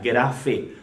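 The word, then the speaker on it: γραφή: la biblia identifica es la palabra en griego que se dice o se pronuncia graffé y esto habla de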